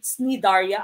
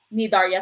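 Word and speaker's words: Cnidaria: you also have nidarias some people would pronounce this nidaria other people who pronounce this as nidaria nidarya silencey these are organisms with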